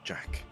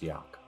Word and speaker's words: Jack: This is Wynn, and that is Jack. Apologies for stepping on your introduction. It's pronounced Yak.